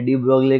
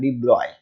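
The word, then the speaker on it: de Broglie: जाके पूछोगे भैया मुझे डी ब्रोकली के घर पे जाना है तो बोलेंगे ये डी ब्रोग्ली कौन है वहां पर आपको ऐसा बोलना है डी ब्रॉय ओके ये एल आई ई तो वहां पर साइलेंट कर दिया ओके ठीक है वो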